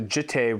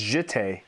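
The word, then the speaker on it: Jitte: I remember I was pronouncing the jite wrong. Play Jit. land. Just Jit. I'm gonna play land for turn. cool. I'm listening. No, wait, no, I was saying jit, and it's jite.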